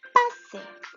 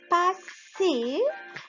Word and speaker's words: passer: passer ça s'écrit P-A S لأنه entre deux voyelles بدنا deux S، ما بزبط S وحدة ولا بتصير passer.